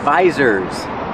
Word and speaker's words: visor: And these are called visors. Use the long I like ride and bike.